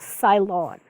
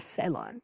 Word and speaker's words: Ceylon: It used to be called Ceylon, or Ceylon, depending on how you'd like to pronounce it.